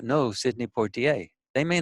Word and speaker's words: Sidney Poitier: Well, how do you pronounce his name? They said Sidney Poitier.